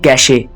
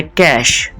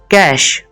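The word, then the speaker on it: cache: गलत प्रोनाउंस करते हैं इसको लोग कहते हैं कैसे कैसे लेकिन इसकी जो करेक्ट प्रोनंसिएशन है कैश कैश अक्सर आप लोगों ने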